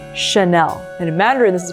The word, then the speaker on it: Chanel: And over here, if anything in French has a CH, instead of pronouncing it in English like cha, for example, channel, we would pronounce it as a sh. So it's Chanel.